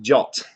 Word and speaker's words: JWT: And inside that RFC, it actually says it's pronounced JOT. The RFC includes the pronunciation of the abbreviation, so that's important. I will try and actually call it JOTs for the rest of